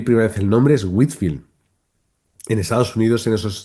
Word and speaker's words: Whitefield: También en Estados Unidos, movimientos en el siglo XVIII, con Jonathan Edwards o Whitefield, que no se pronuncia Whitefield como yo pensaba al principio. Cuando leí primera vez el nombre es Whitfield.